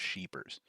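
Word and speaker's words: Scheepers: be sheepers I'm I guarantee it's pronounced sheepers um just because of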